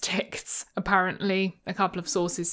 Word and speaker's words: TikZ: seems that it was developed and is maintained by Germans and as such it is pronounced tics apparently a couple of